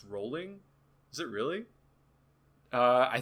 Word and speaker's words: Rowling: yeah i shudder also they saying it's pronounced rolling is it really uh i think i think that's the hard w you know i think it's just jk rowling it is rolling weird i've always hit